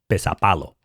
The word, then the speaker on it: pesäpallo: It's called Pesäpallo. It's spelled P-E-S-A with umlauts over the A, P-A-L-L-O.